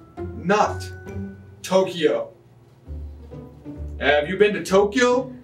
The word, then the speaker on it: Tokyo: 東京 It is two syllables only, notTokyo. Have you been to Tokyo?